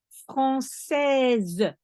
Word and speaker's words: française: Une femme française. I don't say français because it's a woman. So française. I put an extra E, so I pronounce the S.